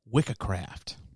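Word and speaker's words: wiccecræft: The terms witchcraft and witch, though, they derive from Old English, and it's pronounced Wiccacraft for the masculine, or Wicca or Wicca, depending on if you're masculine or feminine.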